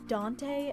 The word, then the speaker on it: Dante: of you not understanding my pronunciation of it it's Dante as in Dante's Inferno I wanted to make